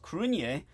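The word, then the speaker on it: Cruithne: no idea okay but I know this is pronounced crun so the kinian were a people of early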